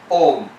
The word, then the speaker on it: Om: by a fortunate coincidence ah and u together becomes o and in english you have o so o and m together give you the correct pronunciation of o which the sanskrit pronunciation is exactly the english pronunciation also om what's your point has